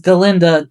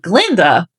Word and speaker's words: Galinda: In fact, when Dr. Dillamond calls Galinda Glinda, she demands to know why he can't pronuncify her name, and that's the phrasing she uses.